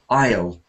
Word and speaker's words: isle: top cells isol is that's a homophone of without the plural at the end it is a a homophone of the contracted I will Isle Isle Isle exiles simulus